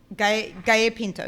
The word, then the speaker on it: Gallo Pinto: Gallo Pinto, yeah.